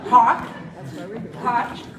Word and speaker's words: Koch: We have KOCH, and Edward Norton. That's how you pronounce that.